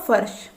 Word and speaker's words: फर्श: किया जाता है और इसका उच्चारण होगा फर्श इस तरीके से और देख लीजिए